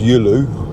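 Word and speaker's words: Giolou: And Gyulu is pronounced Yulu.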